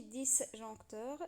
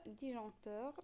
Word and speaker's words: disjoncteur: disjoncteur اللي هو الفاصل، ماشي ديسجونكتور، ديجونكتور لان الاس هنا مي، وكنسمعوا بالدارجه كيقولوا له ديجانكتور الى ولا ديجانكتور ولا كل منطقه كيقولوا عليها هو الفاصل ديال الضوء.